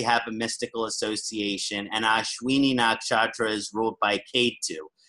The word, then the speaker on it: Ashwini: So it's the first nakshatra is pronounced Ashwini Nakshatra.